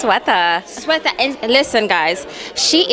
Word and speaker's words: Sweta: That's right, it's Sweta.